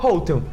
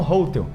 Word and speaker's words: hotel: Só que eles dão um foco no hotel, aí ficou hotel. As pessoas falam hotel.